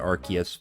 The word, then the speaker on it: Arceus: use that Pokémon, uh which I pronounce as Arceus, by the way. If you pronounce it Arkius, then that's fine, but that's not how I do it, so.